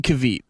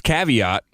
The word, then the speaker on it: caveat: he said yeah man with 1 cavite I was like oh it's caveat and give me your